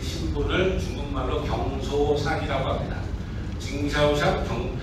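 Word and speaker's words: 经销商: 징샤오샹, 한국 발음으로 하면 경소상, 중국 발음으로 하면 징샤오샹이라고 하는데 이렇게 됩니다.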